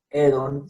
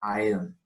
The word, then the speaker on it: Aedon: Entonces no sería Edon, sino Aedon.